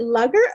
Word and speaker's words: lugger: Do you pronounce it lugger or luger? Lugger? It's a lugger. Okay.